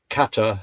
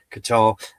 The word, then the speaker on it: Qatar: regard to the Johar forum we know that Kata has been putting as you pronounce it Qatar has been putting uh investing so much money into universities, colleges etc.